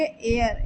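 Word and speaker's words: heir: हकर हकर वारिस एयर यहां पर भी ए साइलेंट होगा और ई आई आर का प्रोनंसिएशन करेंगे तो इसे हम पढ़ेंगे एयर एर यानी होता है वारिस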